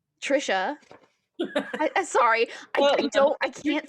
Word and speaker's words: Tricia: about the book The Shadows Between Us by Tracy. Can you help me with this name? Trisha.